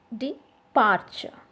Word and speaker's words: departure: got a degree okay then departure so the stress is on the second part after the d departure okay rewind rewind so